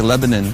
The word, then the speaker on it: Lebanon: Friday where are we it's spelled Lebanon but here they say Lebanon Tennessee hey Sammy a couple